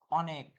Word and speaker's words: অনেক: কিন্তু অনেক, কিসের মতো উচ্চারণ হচ্ছে, অ এর মতো উচ্চারণ হচ্ছে।